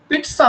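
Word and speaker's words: pizza: पिट्सा होता है, पिज्जा जो आप कहते हैं उसका राइट प्रोनाउंसिएशन होता है पिट्सा, ठीक है।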